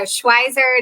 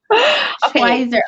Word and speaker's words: Schweizer: So Schweizer it is. Schweizer.